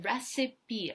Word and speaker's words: recipe: Recipe, обратите внимание, да, не по правилам читается слово. Обычно вот эта буква в конце немая, а здесь мы ее читаем recipe.